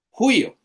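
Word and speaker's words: υἱός: De nuevo, el espíritu cuando hay un diptongo se pone en la segunda vocal cuyo tiene espíritu rudo, por lo cual suena gutural, como una J. en español.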